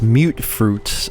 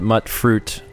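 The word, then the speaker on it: mutfruit: Finally got one of these mute fruits. I had pronounced it mutt fruit. Someone else corrected me, said it's mute fruit.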